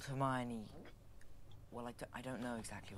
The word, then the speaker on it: Hermione: That's how you pronounce her name. Hermione.